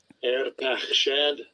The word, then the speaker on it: Arpachshad: Arpachshad. Arpachshad. All right. So and Shem lived. This is 11 and 11. Bereshit 11 and 11. So Shem lived after he begot Arpachshad 500 years and begot sons and daughters.